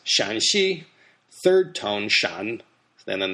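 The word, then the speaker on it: Shaanxi: first tone first tone and the other ones pronounce Shan Shi third tone Shan and then the same exact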